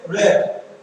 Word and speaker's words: read: তাহলে এখানে rat হবে কিন্তু বানান একই হবে, উচ্চারণটা হবে rat কিন্তু বানানটা আর ইয়ে দিয়ে read।